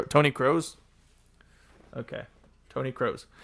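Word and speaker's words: Kroos: one nil it's crazy crows like the bird pronounced cro Tony crows okay Tony crows it's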